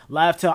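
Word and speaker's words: Laugh Tale: until yeah, we got the pronunciation for Laftel. I'm still calling it Raftel.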